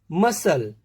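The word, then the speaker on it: muscle: सी के साइलेंट रहने के लिए यदि सी के बाद एस का कॉम्बिनेशन आता है तो हम सी का प्रोनाउंसिएशन नहीं करते हैं। देखते हैं, सेंट, इसमें science, scene, मसल, scissor, accent, तो इनमें डायरेक्टली एस का प्रोनाउंसिएशन हो रहा है।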